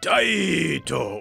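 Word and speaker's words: Taito: Crime City Crime City from Tao released in 1989 yes that's how the company's name is pronounced this is basically a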